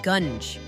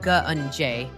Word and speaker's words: gunge: So Locke is saying I'm pronouncing gungi wrong, says it's gunge. Well, then why does it have an E at the end? Locke. It looks like gungi. Ugh, whatever, primordial gunj.